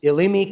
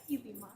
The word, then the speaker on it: Ilima: How do you say it? Ilima. Ilima. Oh, okay, Ilima. I got the first syllable right.